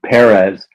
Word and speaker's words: Pérez: name right I tried to do that George Perez um this was my George Perez um a